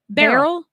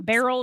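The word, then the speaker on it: Beryl: new the newest hurricane barel it's not spelled like b a r r it's spelled like Cheryl well yeah barl and Cheryl them twins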